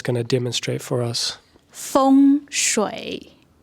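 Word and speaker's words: 风水: So I go to China and it's completely, the pronunciation is so different from feng shui. So Elaine's going to demonstrate for us. 风水，风就是 wind，水就是 water，对，风水。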